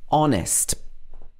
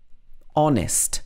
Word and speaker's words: honest: you in an hour also honest this is not honest it should be honest honest she's a very honest person and in ghost